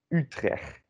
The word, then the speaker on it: Utrecht: Utrecht. Wow, great job. So emphasis on the U. U, like an E with your lips around it.